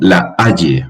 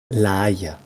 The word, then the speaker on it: La Haye: La Haya. La Haya en español. La Haya en francés. La Bueno. Haya. No, que no es la Haya, es la Haye en Turenne, que hoy en día